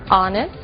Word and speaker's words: honest: O som do H. Pronunciado desde a garganta, como em hotel, e mudo em 3 casos: our, honest, honor.